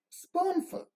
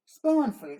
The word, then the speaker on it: spoonful: the words Spoonful glassful we say full is receiving a lower degree of emphasis and duration we saw we don't say Spoonful we say spoonful glassful a spoonful and glassful soda full is sent with a lower degree of emphasis or prominence now the second part